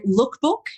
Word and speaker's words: Leukbook: So lookbook. Now that's L E U K book at the end. And I at the outset, Nathan, I will tell your followers why it's spelled that way.